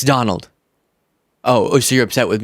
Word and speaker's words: Donald: name anyways oh okay so uh dunal Trump it's Donald oh so you're upset